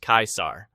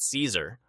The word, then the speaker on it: Caesar: For example, the C was always hard like a K. So Caesar's name was pronounced Kaisar, not Caesar.